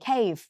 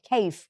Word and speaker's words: cave: B leave in the cave อย่า ลืม มี เฟอะ เๆ ด้วย นะ ตัว v นะ cave cave โอเค ม นะ คะ